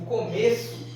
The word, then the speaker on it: começo: o começo o substantivo começo esse é tem um som bem fechado como se tivesse aqui um acento circunflexo começo começo tá já esse